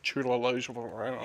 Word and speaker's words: Chiwetel Ejiofor: How do you pronounce his name? Chiwetel Ejiofor.